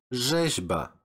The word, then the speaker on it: rzeźba: Next is the combination of R and Z, and you should pronounce it as żet, żet, like rzeźba, rzeźba.